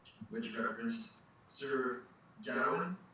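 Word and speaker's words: Gawain: letters which referenced sir Gan it looks like G but it's uh the story uh is taken from the Midland dialect of anglosaxon and so the pron pronunciation is gow so sir gow and the Green Knight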